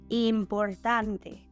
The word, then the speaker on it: importante: Important, importante. So, in here, again, we change that termination "and" to "ante," and the stressed syllable is in the second to last position.